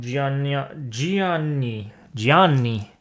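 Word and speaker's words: Giagni: Directed by Gianfranco Gianni. Not spelled how you would expect, but that's how you would say his name. There's an extra G in there, but I'm saying it right.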